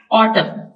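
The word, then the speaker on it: autumn: silent है इसके अलावा ऑटम ये सीजन है जजा इसमें एन साइलेंट है लास्ट में आपको लिख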